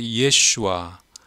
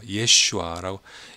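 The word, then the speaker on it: ישוע: 예슈아. 요게 시리아 또 아람어 예수님의 모국어예요. 예슈아라고 예수님 본토 발음은 예슈아죠.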